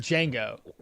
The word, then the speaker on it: Django: Dango. Uh, or is it Django? I think it's Django, right? The the D is silent.